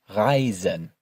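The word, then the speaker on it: reisen: Remember our rule for pronouncing e and i depending on which order they appear in. Ryzen.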